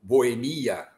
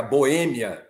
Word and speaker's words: Boêmia: esco né Eh como como como Boemia a história da Boemia que o Nelson Gonçalves cantou e decantou pelo país quando era Boêmia o correto e o correto sempre foi Boêmia Mas e o Aurélio